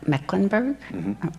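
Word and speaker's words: Mecklenburg: or housing or Health Care Systems um me mecklinburg am I pronouncing your county right yes I practiced last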